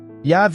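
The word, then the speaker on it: Javé: as consoantes sem vogais portanto a pronúncia exata do nome é incerta yav e Jeová são tentativas de Reconstruir a pronúncia do nome usando as vogais de outras palavras hebraicas o nome e yhw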